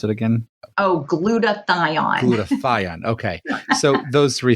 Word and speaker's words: glutathione: So between the gluten-free and dairyfree and also the glyo, how do I pronounce it again? Oh, glutathione.